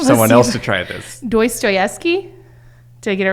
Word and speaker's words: Dostoevsky: Dostoevsky? Did I get it right? You say it. I don't, Dostoevsky.